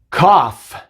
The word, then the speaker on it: cough: Cough, cough, tough, tough, enough, enough. No son muchas palabras en las que la G y la H juntas hacen el sonido de la F, pero son algunas y solamente tienes que aprender cuáles son.